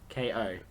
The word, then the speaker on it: Meiko: Um, Maiko finds Kiyoshi in the toilet, I think it's who pronounced somehow, Mako. you sure? Yeah, because it's Meiko.